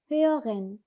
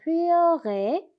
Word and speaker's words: höre: 그러면 오 umlaut랑 에야가 만나면 으어 하시면 됩니다. 그래서 여기서도 흐어 하시면 됩니다. 그래서 höre 이 R 발음이 처음에 안 될 수도 있어요.